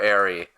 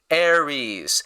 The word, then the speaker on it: Ari: Ary. I hate this so much. His name is not Aries. Aries is the name of the Roman god of war.